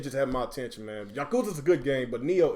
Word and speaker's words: Yakuza: Yakuza.